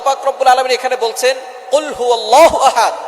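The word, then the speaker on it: قل هو: আল্লাহ পাক রাব্বুল আলামন এখানে বলছেন কুলহু আল্লাহু আহাদ। এখানে কফ দিয়ে পড়ছেন কিন্তু অনেকেই ভুল করে উচ্চারণ সঠিক না হওয়ার কারণে তারা পরে কাফ দিয়ে। কুলহু আল্লাহ।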